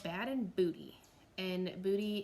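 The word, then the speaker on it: Boudie: bad and booty and booty is spelled like boudoir so it's b-o-u-d-i-e it's run by a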